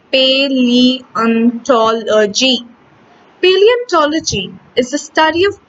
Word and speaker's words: paleontology: A very special branch of science called paleontology, pronounced paleontology.